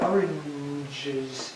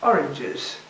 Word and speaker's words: oranges: What you have to do is add a syllable so that the last one can be heard. Oranges, and we go to the schwa and then to the plural. Oranges.